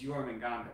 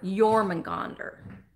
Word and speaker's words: Jormungandr: His actual name is Jormungandr. Jormungandr is his actual name.